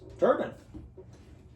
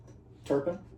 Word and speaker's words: Turpin: Turban. Oh, Turpin. Yeah, Turpin. Did I say that name wrong?